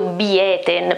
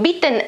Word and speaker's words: bieten: Che qui la i in beaten è breve, invece qui abbiamo il dittongo ie, bieten, no? Quindi beaten la pronuncia, e quindi la I è più lunga e la T invece non è doppia, per cui è più, diciamo, è meno forte, quindi bitten, beaten, questa è la differenza nella pronuncia, bitten, bot, geboten.